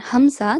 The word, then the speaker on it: Hamza: Okay, and Hamza, the sound comes from bottom of the throat.